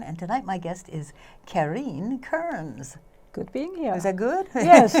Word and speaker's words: Karin: like five years so it's like Carrie not Karen most people say Karen that's all right I'm